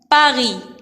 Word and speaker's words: Paris: dans le mot Paris. S à la fin ne se prononce pas. C'est une lettre muette.